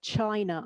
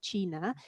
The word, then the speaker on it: china: is obviously the pronunciation an english person looking at the title of the book will naturally read the adventures of china iron not china and then they have